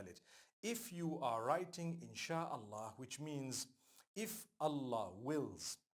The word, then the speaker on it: إن شاء الله: three separate words and when you're saying it you say insha Allah okay so I'm writing